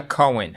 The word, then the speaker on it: Cohen: Cohen. Cohen. So the H is silent. It turns into a W. Cohen.